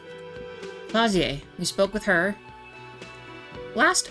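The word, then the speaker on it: Klaasje: disco alium so uh trying to not mispronounce her name it's claer not CLA claer we spoke with her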